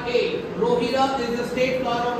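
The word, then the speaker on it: Rohida: Rajasthan state state FL you it's wrong pronounced roh rohira is the state flower of Rajasthan both have mispronounced r o s i r a rohira is the state FL of Rajasthan what's it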